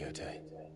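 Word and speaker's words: Jote: Rise, Lady Yote. It's a Finnish name.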